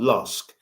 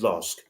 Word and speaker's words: LASK: can't pronounce the Austrian not Lusk against lask let's focus on that